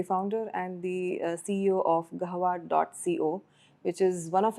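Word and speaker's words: قهوة: Or am I pronouncing it wrong? No, it's Gahwa. It's Gahwa, Yeah.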